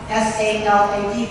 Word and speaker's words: salad: All right, so typical spelling, S-A-L-A-D. One of the syllables is stressed, sa, and the second syllable is okay, so salad, the second syllable is that schwa sound.